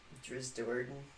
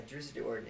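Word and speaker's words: Drizzt Do'Urden: Driz Doerden.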